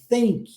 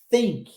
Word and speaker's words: think: preciso de pensar think Olha a pronúncia novamente do th aqui ó não vozeado think think tá a STE Gara